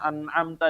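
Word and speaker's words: أَنْعَمْتَ: Misalnya an'amta di sini, jangan sampai membacanya an'amta. Nah, ini keliru ya. Dia harus langsung pindah ya Bapak.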